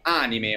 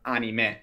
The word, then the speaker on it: anime: termine giapponese anime, ovvero per noi in Giappone anime o anime, come si pronuncia in giapponese è una parola che si riferisce a tutti gli show animati.